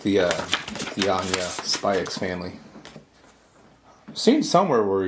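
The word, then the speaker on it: Spy × Family: I like the Anya Spy X Family. I've seen somewhere where you're not actually supposed to pronounce the X, it's just supposed to be called Spy Family.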